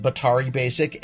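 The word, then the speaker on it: batari Basic: week I picked up Betar e basic which is how you how you pronounce it Bottari basic and the visual BB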